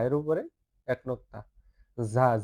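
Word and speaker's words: ز: ঝা ঝা জা এর উপরে এক নক্ততা ঝা ঝিজি পোকার মত একটু উচ্চারণ করতে হবে শব্দ করতে হবে ঝা ঝা ঝা ঝা এরপরে সিন সিন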